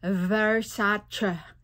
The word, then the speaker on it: Versace: According to Donatella Versace, it is pronounced as Versace, not Versace, Versace.